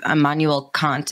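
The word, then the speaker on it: Immanuel Kant: philosophers about these thoughts on reality i believe emmanuel kant and i forgive me if i'm not pronouncing that correctly that is the correct pronunciation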